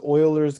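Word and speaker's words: Euler: we talked about it right this this is Oilers constant this is based upon a mathematician that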